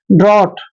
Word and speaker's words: drought: जैसे next word देखिए, DROUGHT, डी का उच्चारण हम डे करते हैं, डे, और आर को रे लिखते हैं, और OUGHT को हमने ऑट पढ़ना है, ऐसे ऑट, ऑ की मात्रा और टे, ऑट।